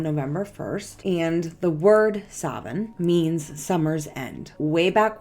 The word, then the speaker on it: Samhain: night of October 31st is called Savin but it is spelled like this it is also pronounced as Sin but I'm going to say the older terminology which is Savin Savin is celebrated on